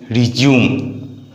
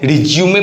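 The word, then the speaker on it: résumé: में यूज करते हैं, लेकिन जब इसका नाउन के रूप में यूज करते हैं तो इसका मीनिंग भी बदल जाता है और प्रोनाउंसिएशन भी बदल जाता है। तब आप इसे रिज्यूमे पढ़ेंगे और इसका मीनिंग होगा बायोडाटा।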